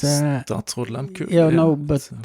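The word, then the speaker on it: Statsraad Lehmkuhl: Statsråd Lemkull.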